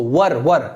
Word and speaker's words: were: Where नहीं बोलते इसको, were ऐसे वर, ठीक है ना। These were made, these were, और वर को भी ना, रा को भी आधा कर, these were।